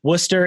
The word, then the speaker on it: Worcester: in but ali spent 15 years at the worcester i looked at the pronunciation worcester and allie had to tell me correctly worcester animal rescue league or also known as w-a-r-l